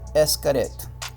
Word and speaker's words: Xcaret: want to pronounce it excret but that would be wrong because the word is actually mayan and in mayan an x is pronounced as an s so the proper name